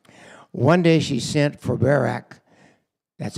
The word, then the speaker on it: Barak: One day she sent for Barak, that's how I pronounce it, son of Abimenam, and who lived in Kadesh in the land of Naphtali.